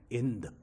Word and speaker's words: Hind: And then in ancient Greek, there is no hard H. So while the spelling may be H-I-N-D, it comes to be pronounced as Ind.